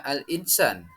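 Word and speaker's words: الإنسان: Al-insan, kita membaca tulisan aslinya al-insan. Namun, dalam hukum tajwid, kita itu dibaca samar dan mendengung menjadi al-insan.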